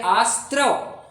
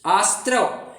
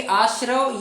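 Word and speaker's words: आस्रव: है यही दिक्कत है इसलिए आस्त्रव आज से अपन ऐसा ही उच्चारण करेंगे आस्त्रव इसलिए आपने अभी-अभी थोड़ा नोट किया होगा कि मैंने रिसेंटली आश्रव ये शब्द का प्रयोग ना करते हुए आस्त्रव में ऐसा उच्चारण कर रहा था।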